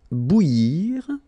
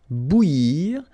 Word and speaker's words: bouillir: Then, cuire au four, bouillir. So that's maybe the tricky one of the list here. So, bou, and then yir, okay? Bouillir. So, bou, yir, bouillir, okay?